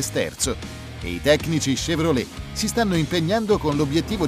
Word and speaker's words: Chevrolet: stranezza dell'origine del nome chevrolet che si legge alla francese con l'ac che iniziale che si pronuncia come se fosse scelto perché fu proprio